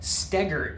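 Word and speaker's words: Stoeger: Look up a guy named Ben Stegar. It's pronounced stagger and spelled Stoker.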